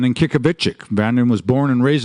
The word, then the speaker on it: Kyikavichik: Well, first of all, my name is Brandon Kyikavichik, and that's sort of the anglicized way of saying it. The way you say it properly is Kyikavichik, and Ki is arrow, and Kavichik is let me carry it.